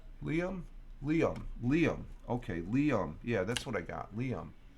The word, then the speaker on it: Liam: And then we have another one of Layums who's giving me the pronunciation, which I appreciate. SM9. I'm always pronouncing it as Layum. That okay? So what did Helen say it was? It's pronounced Liam.